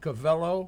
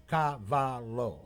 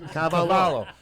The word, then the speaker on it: Cavallo: J yeah now you notice how he said cavello I know he said FR did they now